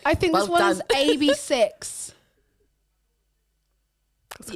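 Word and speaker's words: AB6IX: I think it I think this one is ab6 that's correct that's correct ABS yeah that is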